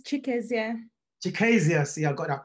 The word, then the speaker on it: Chikezie: Next up, we have, and you have to bear with me on pronouncing your surname. Chikezie, is that Chikezie or Chikezie? It's Chikezie.